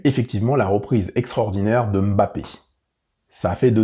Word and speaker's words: Mbappé: eu l'éclair de génie Mbappé et non pas bapé c'est Mbappé il y a le petit m devant ça c'est un petit